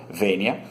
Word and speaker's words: Vênia: podem procurá-lo no YouTube, se escreve assim como se diz, V-E-N-I-A, Vênia.